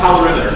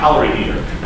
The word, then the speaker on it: calorimeter: It's pronounced calorimeter, not calorimeter.